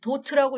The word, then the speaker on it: DOT: DOT, 도트라고 읽습니다.